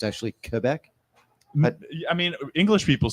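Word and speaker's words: Québec: Quebec Quebec Quebec yeah there's an accent on the E which makes it become an a sound a a that's what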